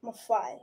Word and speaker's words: Maffei: we have Miss Mafi is that good maet ma okay it rhymes with Buffet like the food buffet ma Buffet easy